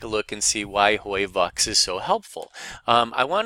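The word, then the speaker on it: HOYVUX: And the magical phrase is hoi vux, hoi vux.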